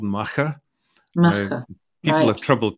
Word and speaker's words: Machair: We came up with the idea for a soap which was called Machair. People have trouble pronouncing that. Machair. Machair.